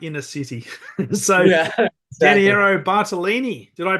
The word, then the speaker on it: Bartolini: that would be like in a city Soo bartalini did I pronounce that correct correct correct 100% I'm very